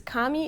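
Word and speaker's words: 紙: folding and then it's Kami is paper but they put it as gami because um it's something with how the writing system works it changes the way that you pronounce the word so this is how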